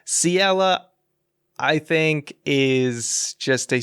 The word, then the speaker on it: Ciela: him at a so ciela i pronounced her name totally wrong in my phantom hourglass review but siela i think is just